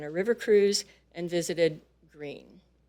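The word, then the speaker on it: Gruene: river cruise and visited Green I always knew that wasn't pronounced like it was spelled special events include our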